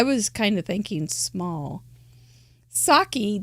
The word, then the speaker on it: sake: Sake doesn't rhyme with ache, but it is spelled like it is. But it doesn't really rhyme with it when you say it.